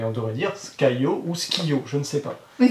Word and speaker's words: Skyjo: Il semblerait qu'on devrait dire Skio parce que le J en allemand se prononce Skiyo.